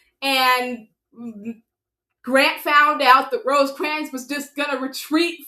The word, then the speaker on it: Rosecrans: Rosecrans. That's actually how you pronounce his name.